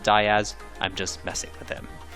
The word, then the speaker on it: Diaz: Yes, I know he pronounces it Diaz, I'm just messing with him.